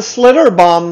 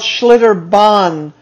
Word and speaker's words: Schlitterbahn: coast they have a slitter bomb there too it's called schlitterbahn not bomb she corrected the child